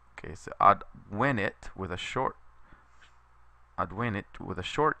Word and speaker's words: advenit: Okay, so advenit with a short e means he arrives. Advenit with a long e means he arrived.